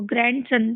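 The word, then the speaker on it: grandson: जैसे एन डी आया है तो यहां पे भी डी साइलेंट हो जाएगा। तो उसको ग्रैंड सन ग्रैंड सन ग्रैंड सन नहीं पढ़ते हैं इसको ग्रैंड सन पढ़ते हैं।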